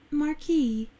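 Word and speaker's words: marquee: 아 mar케 names in manis mar케 mar케가 미식 발음으로 들어보네 마키 마키 키 말키 말키가 아니고 말키라고이라고 발음해야 되네.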